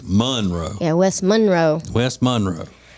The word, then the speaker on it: Monroe: It's west, and most people would say Monroe. And Monroe. put the accent on the row, but in Louisiana it's Monroe.